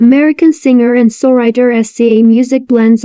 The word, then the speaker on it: SZA: The name SZA, pronounced SZA, is an acronym of words from the Supreme Alphabet.